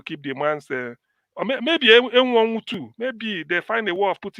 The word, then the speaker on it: Enwonwu: No, the other name you just pronounced here. Is M1. Okay, Okibo. Okay, Enwonwu.